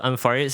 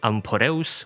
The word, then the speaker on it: Amphoreus: Also, Ampharius is supposed to be amporus, which refers to a type of ancient Greek char.